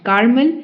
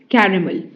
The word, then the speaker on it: caramel: caramel caramel it's not caramel it's caramel caramel okay it's a sticky